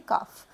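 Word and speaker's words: calf: काऊ को बेबी को बोलते हैं काफ। सी ए एल एफ। लेकिन इसमें एल साइलेंट है। काल्फ नहीं बोलेंगे काफ।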